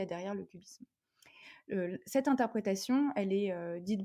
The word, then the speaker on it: QBism: Alors cubisme, ça s'écrit Q-B-I-S-M, le Q pour quantum, et c'est l'acronyme en fait de quantum Bayesianism.